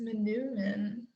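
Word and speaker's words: manoomin: next question um oh tara said wild rice manumin is that how you pronounce it tara yeah and elk and then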